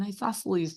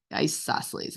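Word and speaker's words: isosceles: joke is which triangle is the coldest an isoceles triangle all right one more ioses it's not how it's spelled okay uh okay and the last joke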